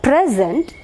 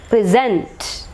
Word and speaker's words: present: noun just like here present and stress should be marked on the second syllable if it is a verb present okay present in the it